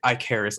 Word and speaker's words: Ike Harris: Ike Harris. I'm sorry. Yeah, Ike Harris. It's not subtle. It pretty much, he didn't put a lot of thought it sounded exactly like Icarus, and I was like,